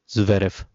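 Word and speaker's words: Zverev: तो वो थे आपके एलेक्जेंडर ज्वेरेफ। ठीक है? एलेक्जेंडर ज्वेरेफ या वेरेफ भी इनको लोग बोलते हैं। आप इनको एलेक्जेंडर ज्वेरेफ प्रोनाउंस कर सकते हैं।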